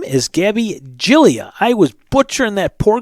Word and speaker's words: Giglia: Her name is Gabby Giglia. I was butchering that poor girl's name. I apologize. It's not Giglia. It's Giglia. Like Jill, Jill, and then E, and then Jill E. So, Gabby Giglia, don't mess that name up.